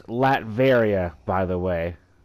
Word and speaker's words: Latveria: It's Latveria, by the way. Latvia.